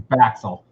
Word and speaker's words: Baxel: But my last name rhymes with Axel. So our last name is Baxel.